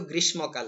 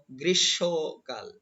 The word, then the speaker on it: গ্রীষ্মকাল: রয়েছে গ্রীষ্মকাল আমরা কিন্তু গ্রীষ্মকাল বলি কিন্তু না বন্ধুরা এটি হবে গ্রীষ্ম গ্রীষ্মকাল এবং এখানে কিন্তু নাক দিয়ে উচ্চারণ করতে হবে গ্রীষ্মকাল গ্রীষ্মকাল পরবর্তী শব্দ